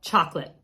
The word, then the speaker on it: Chocolat: box and I just found it, and it's actually from Hotel Chocolate, which I think is probably pronounced like chocolat, but unfortunately it is